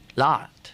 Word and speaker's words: l'art: L'art. L'art with an L apostrophe. And do you pronounce the T? Well, it's that sort of soft. Yeah, you really don't. No, it's like arte in Italian or Spanish or, la.